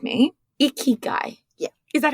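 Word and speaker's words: ikigai: it wrong and you're going to correct me iy guy yeah is that how you say it yep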